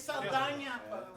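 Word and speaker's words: Saldaña: It's Saldana.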